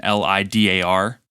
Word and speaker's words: lidar: i said was an l-i-d-a-r scanner and i knew what it was and my dumb ass said l-i-d-a-r instead of it actually being pronounced lidar um so you can